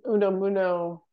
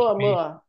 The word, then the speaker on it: Oumuamua: Kind of like that Uno Muno idea. Is that how you pronounce that? That Avi Loeb's idea that the... Oh, Oumuamua, I think. Oumuamua.